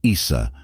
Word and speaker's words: Isa: possibly Scandinavian or gothic in these languages the name is pronounced Isa meaning ice or water in its most passive